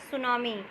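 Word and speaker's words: tsunami: आपके इस second chapter का नाम है द सुनामी बेटा देखो इस मिट्टी व जो है वह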